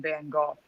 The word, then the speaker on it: van Gogh: like like mandanimal says the brits call him van golf yeah i guess technically